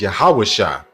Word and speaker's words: Yahawashi: And I'm gonna show you that Joshua, real name when you go into the Hebrew, is Yahawashi, right?